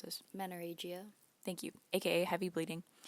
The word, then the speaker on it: menorrhagia: She even had treatments for, can you pronounce this? Menorrhagia.